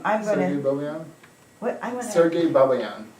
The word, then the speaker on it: Babayan: I'm Sergei gonna, Babian. what, I'm gonna. Sergei Babian. Yeah, he's Cleveland, he's doing Cleveland. CIM. What's his name? Sergio what? Sergei Babayan. How do you spell it?